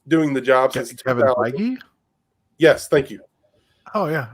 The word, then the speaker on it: Feige: He has been doing the job since Kevin Feige?